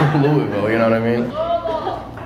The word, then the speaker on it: Louisville: in Louisville you know what I mean oute I'm not pronouncing it like I've got a dick in my mouth use all your letters okay what are you